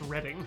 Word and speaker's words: Reading: so keep that mind wait I'm sure that's pronounced reading because excited about some sort of book market yeah like you two I'm sure always wanted to buy the Reading Railroad in monopoly okay it is reading perfect yep cuz there's